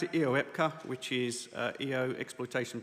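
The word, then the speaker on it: EOEPCA: can help with the acronym so uh we pronounce it eepa which is uh EO exploitation platform common architecture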